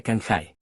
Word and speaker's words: Kinjai: En eso Neris dice Megara tradujo Kinjai como un nombre, pero, en berlenés, en realidad se pronuncia Kanjai.